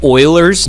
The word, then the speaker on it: Euler: that base is e ok E is called Euler's number it's pronounced Euler but thus out spelled ok it's